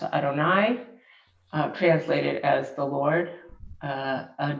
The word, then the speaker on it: Adonai: as letters of probably the most mysterious of Jewish names for God, often pronounced Adonai, translated as the Lord.